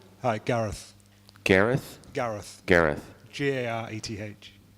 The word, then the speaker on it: Gareth: Hi, Gareth. Gareth? Gareth. Gareth. Gareth. ATH? ETH. ETH, Gareth. Gareth.